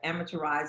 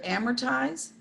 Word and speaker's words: amortize: And it's, take out one syllable to amortize.